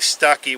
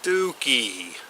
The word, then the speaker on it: Stuckey: It's not actually Stuckey, which is actually the way it's spelled. It's actually pronounced Stuckey. Kind of like Dookie.